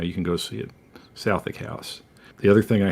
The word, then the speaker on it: Southwick: I stayed in their officers' mess, which is a building called Southwick House. That's spelled Southwick if you're an ignorant Texan, but they don't pronounce the W because of reasons.